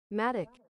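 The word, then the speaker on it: mattock: I just don't know how to pronounce m. Maddic. Oh, madic. Oh, okay. Like automatic.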